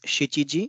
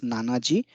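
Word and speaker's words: 七時: four minute is yonpon for seventh hour it is always chichiji it's not written as nanaji but the minute is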